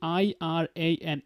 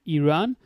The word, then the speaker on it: Iran: Because some people they say I R A N, Iran. Some people they call it Iran. You know, it's up to you how you're going to actually say this one, Ben, Ben, whatever, you know?